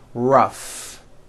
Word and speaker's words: rough: the last word rough notice the gh combination in that word rough let's work on this